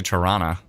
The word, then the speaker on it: Toronto: I can tell you're not from Toronto, as you pronounce the second T. Oh, Toronto? Toronto. Well, I was trying to be very, like, Toronto. I was trying to be very Toronto. I was trying to hit every... Tirana? I want to just say Tirana. That's how you should pronounce it.